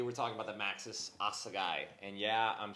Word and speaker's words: Assegai: More specifically, we're talking about the Maxxis Assegai, and yeah, I'm saying it right because I watched Greg Menard say Assegai like 100 times before I even attempted it, but it's Greg Menard's tire, it's cool.